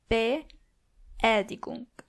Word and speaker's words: Beerdigung: And yes, you do actually pronounce the word with two E's. Beerdigung.